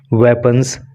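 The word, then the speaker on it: weapon: से मेड बनाए थे वेपन्स, हथियार। इसका प्रोनाउंसिएशन आप ख़ास तौर से याद करना, इसको बीपन नहीं बोलते हैं बल्कि इसको बोलते हैं वेपन।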